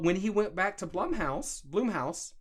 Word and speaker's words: Blumhouse: But when he went back to Blumhouse, I think it's pronounced Blumhouse. That sounds more correct.